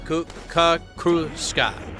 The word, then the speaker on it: Kruska: It's just Kruska. But I like to roll the R because that's.